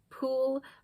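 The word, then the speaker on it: Pwyll: And I believe the actual Welsh pronunciation is Pwll. I have in the past called him Pool, but I think it's Pwll is the correct pronunciation.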